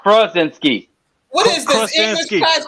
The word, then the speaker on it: Krasinski: I don't know his name, but yeah, I know you're John Krasinski. John Krasinski. John Krasinski. Kra with the Kra. Yeah, with the Kra. John Krasinski. Krasinski, not Krasinski.